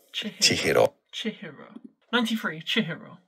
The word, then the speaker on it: Chihiro: I'm going to have to look up how to pronounce this. Chihiro. Chihiro.